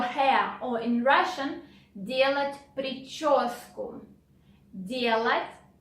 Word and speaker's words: прическу: The next phrase is do your hair, or in Russian, делать прическу. Делать прическу. Sound ch is difficult, pay attention to it.